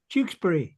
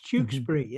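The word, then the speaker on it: Tewkesbury: We'll forget once we're doing Did I say Chukesbury, right? Yes, Jukesbury. It's Jukesbury.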